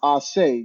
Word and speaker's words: Ace: But Ace is actually supposed to be pronounced Ase. Ase, okay.